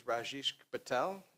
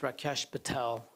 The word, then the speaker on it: Rakesh Patel: The next speaker is Rajesh Patel. Sorry if I butchered it. And you'll state your name and address for the record and hear how bad I did. So my name is Rakesh Patel, and I live in